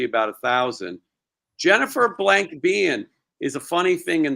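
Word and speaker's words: Biehn: else I was saying Bine it's pronounced bean bean yeah Bean okay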